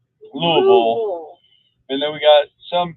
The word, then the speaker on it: Louisville: You say it wrong. Louisville.